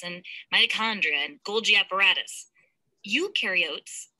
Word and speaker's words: eukaryotes: Eukaryotes, the U rhymes with do, they do have membrane-bound organelles.